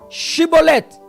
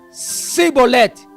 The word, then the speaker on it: Chibolete: Primeiro porque se a pessoa não pronunciasse direito a palavra Shibolete, ele era morto.